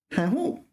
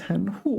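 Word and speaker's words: 含糊: 含糊, but you pronounce it 轻声, right? I don't think you would pronounce it second tone second. 糊 meaning unclear, like blurry. Now, 含糊. So if it is, yeah, I do not think you would pronounce that second tone second tone. It would always be second tone 轻声.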